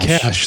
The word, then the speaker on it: cache: say oh i have to clear the cast cash that's not cache that's cache i mean every